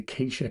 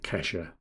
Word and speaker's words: Kesha: Only quesa can say timber. We're lucky that I knew to pronounce that quesa and not kesher.